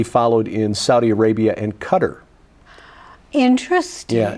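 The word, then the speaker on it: Qatar: in Saudi Arabia and cutter interesting yeah now cutter even though it's not spelled the same QA t a r they are essentially the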